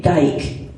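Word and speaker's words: Gyke: It's G-Y-K-E, but it's G-Y-K-E. pronounced the same way, yeah. Yeah, Geik.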